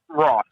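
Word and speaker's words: Roff: on Instagram and that is Andrew is it rof or rth how do you say your last name Andrew rth r o f f so Andrew rth awesome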